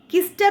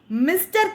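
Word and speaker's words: Mister: The word itself, see the second line of the stanza, Kister Conductor, actually how it has to be pronounced? Mr. Conductor. But he collapsed the first letter, the first sound, he simply said Kister Conductor.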